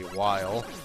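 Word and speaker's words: Wily: was calling Dr while Dr Willie which was incorrect and they said it's said like Wy coyote so it's apparently while I think that's a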